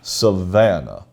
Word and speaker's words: Savannah: how they look they they spelled it out the way that you're supposed to pronounce it savannah yeah three syllables you're sounding like your